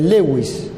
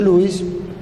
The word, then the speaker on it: Lewis: técnica se conoce como técnica de lewis que también se pronuncia louis pero lo decimos así para no confundir una línea horizontal que